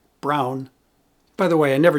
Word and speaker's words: Braun: And for most people, the gold standard of electric shavers is brawn, or as it's pronounced in its home, Germany, Brown.